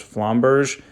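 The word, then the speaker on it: Flamberge: in terms of that the best pronunciation I got for it was flomberg so we're going to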